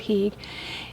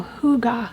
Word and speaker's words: hygge: In fact, we have a family here with the last name and they pronounce it hygge.